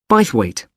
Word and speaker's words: Bythwaite: held in bythwaite Hall sorry how do you spell that b y t h w a i t e bite weight is it easy to find I'm not very